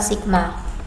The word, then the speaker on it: sigma: Rapat muatan itu lambangnya ini bacanya bukan tau tapi bacanya itu adalah sigma.